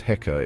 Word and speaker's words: Heka: It's basically a crook, a scepter that's written with two symbols, and that's pronounced Heka. It means ruler.